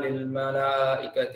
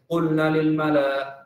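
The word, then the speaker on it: للملائكة: qulna wa idh qulna lil malaikati isjudu gitu. Nah, kemarin beberapa kali saya dengar ada yang bacanya dia wa idh qulna lil mala dibaca pendek nanya wa idh qulna lil malaikati wa idh qulna lil mala.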